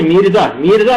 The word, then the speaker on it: میرزا: میرزا مہدی، یہ نہیں ہے مرزا نہیں ہے، میرزا مہدی کیا ہوا؟